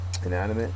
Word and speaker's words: inanimate: the next word is inanimate inanimate is an adjective second syllable is accented it is not having